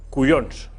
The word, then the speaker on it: collons: Por ejemplo, la famosa palabra cuyons. Por ejemplo. No es cuyons, es collons, se escribe collons, se pronuncia cuyons.